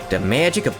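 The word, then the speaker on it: を: Also happens with writing wo as in the particle which is just pronounced o.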